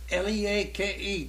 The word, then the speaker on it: Leake: Well, here's an old blues number that come down from Leake County. How do you pronounce that?